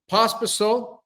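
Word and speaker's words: Pospíšil: So, Pospisil, is that how I'm pronouncing his name?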